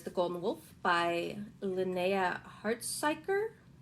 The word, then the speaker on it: Hartsuyker: In the same vein, there's The Golden Wolf by Linnea Hartsuyker. I think it's a Scandinavian last name. Hartsuyker. I believe that's how it's pronounced.